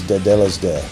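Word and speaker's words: τετέλεσται: It's the proper pronunciation is Tetelestai.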